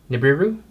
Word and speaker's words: Nibiru: one of them is called Nibiru I believe is how it's pronounced which is the brand-new